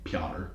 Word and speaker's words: Pyotr: I looked it up, that's how it's pronounced, Pyotr.